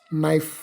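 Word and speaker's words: knife: silent ಆಗಿರ್ತವೆ for example ಈಗ ನೈಫ್ ಅಲ್ಲಿ word begins with K ಬಟ್ it pronouns ನೈಫ್ ಡಬ್ಲ್ಎ ಎಲ್ K walk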